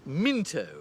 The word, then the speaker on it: Mouse paddler: the British Ambassador that's Minto it's uh it's written Mouse paddler but it's pronounced Minto it's an English thing the rattles visited you here in 1964.